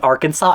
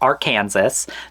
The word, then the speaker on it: Arkansas: saw some europeans pronouncing arkansas it is arkansas it's not arc kansas there's a vine about